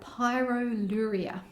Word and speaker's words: pyroluria: Kylie Dodsworth, and I want to talk to you about pyroluria. It's a funny condition, funny sounding condition. It's spelled P-Y-R-O-L-U-R-I-A, pyroluria.